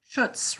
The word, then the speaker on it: Schuetz: Schuetz, rhymes with Schuetz.